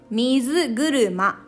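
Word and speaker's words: みずぐるま: two kanji get together like this we called mizu guruma so this first part of second kanji second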